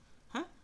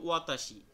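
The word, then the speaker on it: は: দেখেন যে এইটা হলো ওয়াতা অতাশী অর্থ একটু আগে আমরা পড়ে আসছি যে আমি এরপরে হলো হা না হয়ে এই উচ্চারণটা হয়েছে কি ওয়া কারণ এখানে এটা কি পার্টিকেল হিসেবে ব্যবহৃত হইছে আপনারা পার্টিকেল সম্পর্কে সামনে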